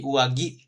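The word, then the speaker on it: 上着: Kalau dibacanya biasanya di depan berarti dia pakainya ki, ki, ki. Tapi kalau dia ditempel di belakang sama ue tadi kan jadi uagi. Nah, jadi gi dia nanti berubah seperti itu.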